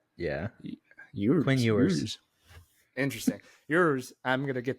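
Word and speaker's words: Ewers: Manning popping off with ERS do I say that right eers ear Quin ERS it's spelled it's like yours with an accent yeah yours interesting yours I'm gonna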